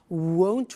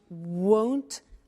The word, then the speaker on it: won't: sunny is the negative won't remember the difference between will not won't and want won't want so be careful with that pronunciation so it'll be sunny